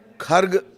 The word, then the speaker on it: खर्ग: खर्ग द्वीप के बारे में थोड़ा सा जान लीजिए। कई जगह इसे खार्ग आप सुनेंगे। कई जगह खार्ग सुनेंगे। ये प्रोनंसिएशन के उच्चारण तलफुस के लिहाज से अलग-अलग है।